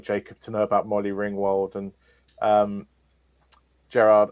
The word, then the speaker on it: Ringwald: to know about molly ringwald and um gerard i couldn't tell how he had mispronounced molly ringwald i think he said molly ringwood i think is what